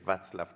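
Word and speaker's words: Václav: bats la ftc klaus porque tengo entendido que así se pronuncia en checo y aprendí que la ce se pronuncia como ts vaclav klaus algo aprende uno todos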